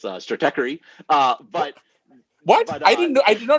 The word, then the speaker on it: Stratechery: It's still, as Sriram noted, is still pronounced incorrectly. It's Stratechery.